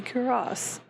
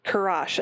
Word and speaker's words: Kurash: You may call me Kuras. I think I said that right. They released a pronunciation guide a long time ago, but I don't. Kurash, I think, actually. I think it's Ash.